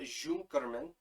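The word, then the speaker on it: Junkermann: Up until the Junkerman part, it's German, so it might be pronounced Junkerman.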